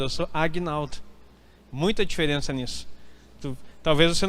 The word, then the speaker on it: Agnaldo: Eu não sou Aguinaldo, eu sou Agnaldo. Muita diferença nisso. Talvez você não consiga percepção. O meu G é mudo. É Agnaldo, não Aguinaldo.